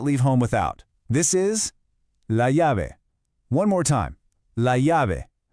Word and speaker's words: la llave: This is la llave. One more time. La llave. Now, listen close to this one. That double L in Spanish makes a Y sound.